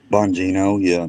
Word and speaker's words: Bongino: Well, so, hey, from what I seen, how do you pronounce that? Bongino, Hundino, Don bon, Hundito. Bongino, yeah, Don Bongino.